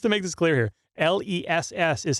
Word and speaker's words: Les: Just to make this clear here, L-E-S-S is how his name is spelled.